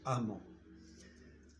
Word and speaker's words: emment: Ça veut dire que prudent se termine par ENT, l'adverbe doit se terminer par E, 2M, ENT et ce E, 2M, ENT se prononce amant.